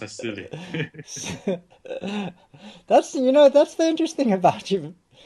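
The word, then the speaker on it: SIYLI: No, SIYLY is pronounced as silly.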